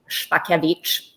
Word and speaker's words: Szpakiewicz: My last name is, in fact, Szpakiewicz.